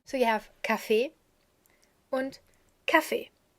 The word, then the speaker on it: Café: So you have café and café. Here's a slight difference. Café, with the pronunciation on the last E, because it's French, and café, with the pronunciation on the A.